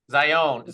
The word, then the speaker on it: Zion: Zion Zion Zion Zion Zion okay yeah you got it Z I think of Zion National Park right yeah it's close